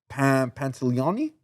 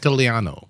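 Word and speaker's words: Pantoliano: That's when Eddie, Chris Benoit, and Joe Pantoliani. I cannot pronounce that. Pantaleano.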